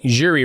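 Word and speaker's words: Jiří: say Alex P and I'm pretty sure I'm saying jurri wrong too right am I saying jurri wrong uh Yu Yuri prasa yri Pras think it's either Yuri or jurri maybe we'll have we'll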